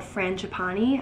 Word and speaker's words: Frangipani: And the fragrance itself, which is called Frangipani, I got the correct pronunciation.